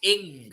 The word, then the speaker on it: Ng: in a championship level is NG fish bean Rose cell is his name actually NG like is there not like it's um like well it's pronounced in I think it's like Malaysian you know Vietnamese of yeah but